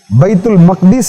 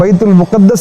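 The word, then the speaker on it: بيت المقدس: மஸ்ஜித் குப்பத்துசஹரா உள்ளங்களை எல்லாம் கவரக்கூடிய அல்குதுஸ் பைத்துல் முகத்தஸ் சரியான உச்சரிப்பு அரபியில் பைத்துல் மகதீஸ் என்று சொல்ல வேண்டும் நாம் பைத்துல் முகத்தஸ் என்று சொல்லி பழகி இருக்கின்ற காரணத்தினால் பைத்துல் முகத்தஸ் என்று இப்போது சொல்வோம் இது அந்த குபத்து சஹராவுக்கு கீழே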